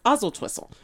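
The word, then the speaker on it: Oswaldtwistle: lives in is called oswaltwhistle right i hate him and then once you learn how to pronounce oswalt's whistle you have to drop the w and it's ozil twistle so because that's how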